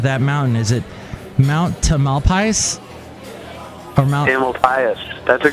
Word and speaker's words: Tamalpais: Does it rhyme with anything? Mount Tamalpais. I guess it could be like a pious pope, because they have all the Pope Pius this, Pope Pius the Seventh, Pope Pius whatever, and it could be Tamalpais.